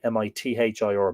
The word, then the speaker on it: Midir: Apparently, Midir is pronounced like Mithir, Mither, heavenly country, under the Shea of Briley, near Arda in County Longford.